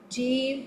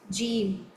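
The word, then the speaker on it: جيم: So you make sure there shouldn't be too much echo when you pronounce jim. So just hit the makhraj softly, ja, ji, ju.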